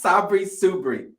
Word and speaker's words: Sabri Suby: I'm sorry if I'm mispronouncing it. That's how I say it. It's Sabri Subry. Okay. Sabri Suby.